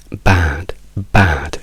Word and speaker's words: bad: O anche la parola male, si dice bad, non si dice bed, non si dice bud, perché bed vuol dire